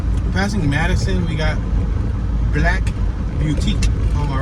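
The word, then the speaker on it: Blaque: We got Black Boutique on my right, spelled with a Q. B-L-A-Q-U-E, Black.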